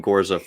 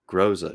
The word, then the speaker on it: Groza: Groza. Groza. I will call him Gorza until the day I die.